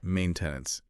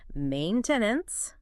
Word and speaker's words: maintenance: It's like a schwah very reduced maintenance. Oh the stress jumps. It hops right to the first syllable maintenance.